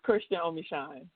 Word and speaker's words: Christian Omeshun: first am I saying it correctly yes is Christian omine and where did that come from so the